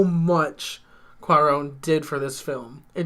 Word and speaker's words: Cuarón: a fossil how do you say it it's cuarón it's cuarón for roma your ghost lamp the